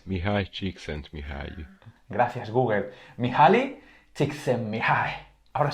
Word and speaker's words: Csikszentmihalyi: A ver, Google, por favor, acláranos, ¿cómo se pronuncia Mihaly? 1, 2 y 3. Mihaly Csikszentmihalyi.